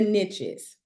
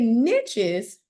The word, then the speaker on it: niche: They say, the riches are in the niches. And they say niches just to make it rhyme with riches, okay? I like to say the word niche, but I do like